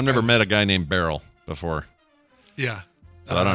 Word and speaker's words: Beryl: Is that how we're pronouncing that? Yeah. Okay. Yeah, it's Beryl.